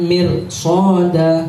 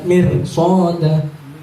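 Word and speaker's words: مِرْصَادًا: Kanat mirsada, seharusnya seperti itu, ya. Tarqiq. Berhubung ada shad di depannya, maka dibaca tebal. Kanat mirsada, bukan mirsada. Kalau dibaca tarqiq, mirsada salah. Terus gimana cara membedakan tarqiq? Kalau tarqiq mulutnya biasa aja, mir. Nah, itu kalau tafhim mancung, mirsada.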